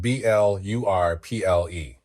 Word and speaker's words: blurple: It's spelled B-L-U-R-P-L-E. Yeah, it rhymes with purple.